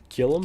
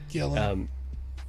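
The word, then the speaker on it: Gillan: Nebula is great, and I love Gillum? How do you say her last name? Gillen.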